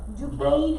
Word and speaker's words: Duquesne: So, Duquesne is how you say it.